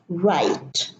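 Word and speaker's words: write: over right over right either if the word right is spelled with an W the W later is silent we don't look at the spelling we pay attention to the pronunciation it's pronounced right so over right over right over respond counter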